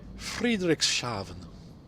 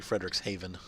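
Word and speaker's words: Frederikshavn: it like sound different Friedrichs shavon it's actually Frederick's Haven two cranes toppled in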